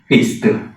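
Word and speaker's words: ਪਿਸਤ: हुण गुरमत दे सिद्धांत के मुताबक असीं इहदा उच्चारण करांगे पिस्त।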